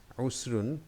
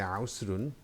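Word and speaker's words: عسر: So let's see these 2 words, usrun, which means difficulty. You can say ausrun because it starts with ain, which is a difficult word to pronounce, and yusrun, which means easy.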